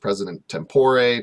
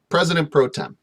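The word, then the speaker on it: president pro tempore: president proor okay and this is pronounced president tempore president proem tomato tomata president protm okay the highest ranking officer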